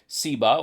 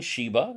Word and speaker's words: Sheba: Shin can be S or SH either. Nothing wrong with saying Sheba, it's fine, but it could be either.